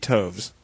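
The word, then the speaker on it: toves: how to pronounce slyy toes the eye in slyy is long as in R and Toes is pronounced as to rhyme with Groves again the first o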